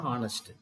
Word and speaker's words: honest: ஹானஸ்ட் ஹானஸ்ட் begins with consonant letter h os honest but when you pronounce that word it it should not be